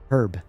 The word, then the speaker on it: herb: In American English, the H is usually silent. In British English, the H is typically pronounced herb.